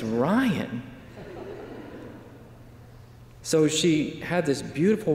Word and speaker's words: Ryan: a beautiful name wrong i go who is ron it's ryan so she had this